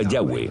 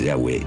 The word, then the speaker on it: Yahweh: Pensamos que probablemente se pronunciaba Yahweh o algo así.